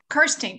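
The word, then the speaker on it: Kerstiens: my name is kerstings k-e-v-i-n k-e-r-s-t-i-e-n-s and my address is 123 west millard avenue johnson city tennessee 37604 thank you mr is it kerstin am i pronouncing it correctly kirsten okay i'm locke miller so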